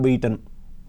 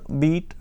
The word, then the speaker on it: beat: So, the first word beat and the second past form beat are pronounced in the same way.